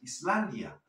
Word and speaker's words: island: Si decimos Iceland, estamos hablando del país, Islandia. Si ya no quieres hablar del país, quieres decir isla, pues te comes la S y dices island.